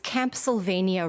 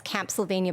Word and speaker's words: Camp Sylvania: What does Camp Sylvania rhyme with? A spooky place, right?